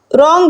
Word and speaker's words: wrong: "wrong" में W silent है।